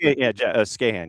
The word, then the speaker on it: Skahan: Like yes, they brought in a German legend kind of guy too, but like Jack Skahan, did I even pronounce his name right? Like Skahan, yeah.